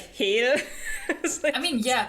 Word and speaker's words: Hel: constantly reading it like Hil I mean yeah that's how it's pronounced cuz it's a Germanic word yeah yeah but um